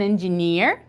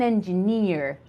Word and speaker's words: engineer: very good English word a lot of people actually do not say it correctly it's an engineer engineer engineer near okay oopsie all right